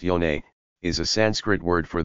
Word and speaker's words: yoni: The yoni massage. Yoni, pronounced yone, is a Sanskrit word for the vagina that is loosely translated as sacred space or sacred temple.